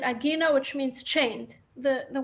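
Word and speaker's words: agunah: a term for it called an aguna the way we pronounce it agina which means chained the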